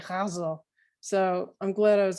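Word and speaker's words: ghazal: name is hazel and she confirmed for me that the pronunciation is with that guttural g hazel so i'm glad i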